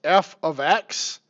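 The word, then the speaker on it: f(x): y equals 2x plus 3 and this is pronounced f of X equals 2x plus 3 absolutely nothing they mean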